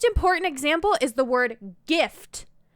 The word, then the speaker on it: GIF: begin to sound off first of all jin is not a good example it's a drink derived from juniper juniper berries so its name is from dutch geneva for juniper the word gif is not derived from another language with the word where a word starts with j in fact it is an acronym derived from english words that first letter the